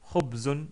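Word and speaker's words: خبز: Et on prononce Khobzun ou Khobz si on s'arrête sur le mot.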